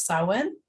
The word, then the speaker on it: Samhain: That's how you pronounce that, Samhain.